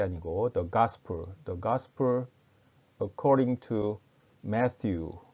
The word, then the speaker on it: Matthew: the gospel, 가스펠이 아니고 the gospel according to Matthew, 마테오는 영어로는 Matthew라고 발음합니다. 그러니까 마태복음 혹은 마테오 복음을 영어로는 The Gospel according to Matthew 이렇게 부를 수가 있겠죠.